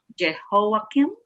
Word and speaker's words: Jehoiakim: an NIV, it says, how do you pronounce it? Jehoiakim? Mm-hmm. Yes, you got it.